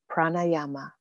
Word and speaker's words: pranayama: l a d h a r a chakra pranayama p r a n a y a m